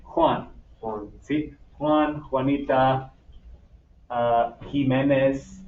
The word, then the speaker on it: Jiménez: Juan, Juanita, Jiménez, Jiménez, con la H. ¿Sí? You actually make the H sound con J.